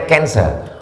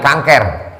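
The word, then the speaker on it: cancer: Tulisannya C A N C E R. Orang Barat membacanya kanser. Orang kita susah menyebut kanser. Kenapa nih? Kanker.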